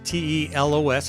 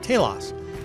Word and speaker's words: Telos: for your entire life one is the word Telos tlos it's Greek word nobody knows how to pronounce it because that part of Greek is a dead language so we'll call it Talos and it means what's